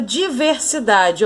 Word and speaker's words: diversidade: Agora a palavra diversidade, ó, diversidade. Última, penúltima sílaba.